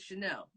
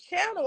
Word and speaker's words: Chanel: And growing up, when I saw Chanel spelled the way it's spelled for, you know, the brands or Coco Chanel, I thought it was Channel.